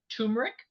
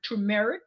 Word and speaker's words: turmeric: 1 teaspoon of ground turmeric, or turmeric is the right way to say it.